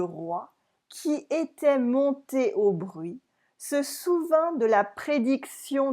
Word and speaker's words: bruit: Alors le roi, that's okay, qui était monté au bruit, se souvint de la prédiction des fées. Here we do not say the T, like as in bruit, we don't say the consonant at the end of a word.